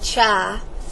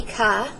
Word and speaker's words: chi: I say Kai squared some students say chai but it's supposed to be Kai it is similar to